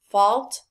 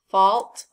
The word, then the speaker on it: fault: means repeat after me fault haunt cause what sound do we hear in all of these words oh very good we hear the ah sound look at these words